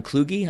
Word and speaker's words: Kluge: soccer club yep yeah headlines team owners John Kluge I think is how you pronounce that and Stuart's about Nick instead named